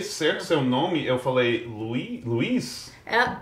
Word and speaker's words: Louise: Olha, eu pronunciei certo seu nome, eu falei Luiz? É Luiz, mas não... é um nome francês, mas também bem americano.